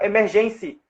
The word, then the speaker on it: emergency: referência de emergência então ele fala emergency como se a sílaba tônica fosse no no em igual como emergência quando você pratica o